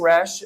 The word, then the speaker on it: Rash: my name is rash uh it's spelled r-a-s-h like it sounds um I I got